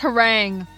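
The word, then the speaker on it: harangue: Jack told me that that word is pronounced herang.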